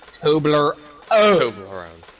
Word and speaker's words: Toblerone: Toblerone. It's like Tobler and then one. Toblerone.